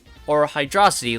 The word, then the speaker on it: Hydrocity: Is it pronounced Hydrocity? Or Hydrocity like velocity?